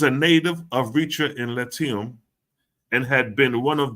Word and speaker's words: Latium: How do you pronounce that? Latium.